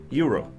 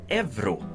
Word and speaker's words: euro: actually a currency it's a currency and it's pronounced Euro or Euro or however a swed would pronounce it but a lot of sweds actually pronounce this evu and why that is I'm not entirely sure